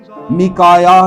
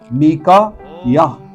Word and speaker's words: میکایا: میکایا نبی، میکا یا، ٹھیک ہے نا، 2 ہجے ہیں، میکا یا، یہ الف یا ہے، میکایا نبی تھا، اور